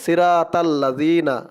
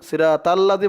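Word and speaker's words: صِرَاطَ الَّذِينَ: অনেকে বলে সিরাতাল্লাযিনা, সিরাতাল্লাযী বললে কিন্তু এই তোয়ার উচ্চারণটা সঠিক হয় না। তোয়ার উচ্চারণ তল, তল, ত দিয়ে লাম ধরবে তল, সিরাতাল্লাযী বলা যাবে না, বলতে হবে সিরাতাল্লা, তল্লা, সিরাতাল্লা।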